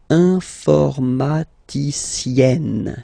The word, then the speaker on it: informaticienne: Okay, and you get the sound informaticienne, sienne. Remember, E and then double N, or then it could be double L or double consonant here. You open your E, so it's E, informaticienne.